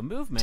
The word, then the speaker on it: MVMT: Movement times is 200. stylistically spelled MVMT. About 18, yeah, That is that's the about name of the right. company. It's pronounced movement though.